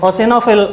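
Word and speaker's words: eosinophil: तो एसानोफिल, ई साइलेंट है इसमें, ओसिनोफिल इसका एग्जैक्ट प्रोनाउंसिएशन बनेगा।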